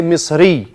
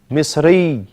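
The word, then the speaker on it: مصري: But because you are at the end of the sentence, because you're stopping your sentence, you say Misri. Yani Suri. Suri. Misri. Suri. Almost. It's no kasra, it's two dhamma. But when you stop, you make it a sukun. When you stop, Misri.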